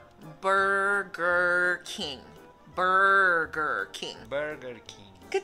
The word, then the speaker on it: Burger King: Él dice Booger King. Booger es como la mucosidad seca que los niños se sacan de la nariz. Estás diciendo rey de mosquitos, ¿no? Entonces no es Booger King, es Burger King.